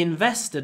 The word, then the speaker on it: invested: Because invest begins with a vowel and the stress is on the second syllable.